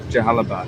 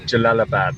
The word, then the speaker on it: Jalalabad: I'm on the way to Carbo, but I'm on La Jahalabad or La Halabad. Jalabad. I can never pronounce it. So this is halfway between uh the border of Pakistan and Carbo. Jalalabad. That's the one.